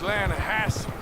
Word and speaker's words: Lanahatchee: Yeah, but it's pronounced Lanahatchee.